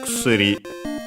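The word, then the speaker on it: 薬: And then after that we have kusuri. Actually, the first u is barely heard if at all, so kusuri, usually.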